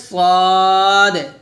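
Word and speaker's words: ص: হচ্ছে পাতলা হরফ তাহলে সদ মোটা করে উচ্চারণ করতে হবে শীষ দিয়ে আর সিনটা পাতলা করে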